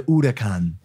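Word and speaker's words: Huracán: not the Lamborghini her I say Huracan cuz it's spelled like that I mean yeah what when we went to Italy they said it's the Otakon they're so precise that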